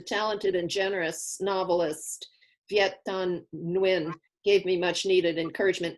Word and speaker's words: Nguyen: good vietnamese name yeah i think it's win like jones yeah i thought it was new right right i thought